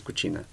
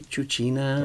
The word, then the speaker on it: cucina: can use cucina but the word begins with letter c yes in italian it's a letter c is kuchina and i said but then the melee they will say chuchina right it will come